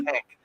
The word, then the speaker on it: Henk: I pronounce it right, Henk, You because it's with did. an Yep. E, not with an A. I almost called you Hank before, but it's Henk.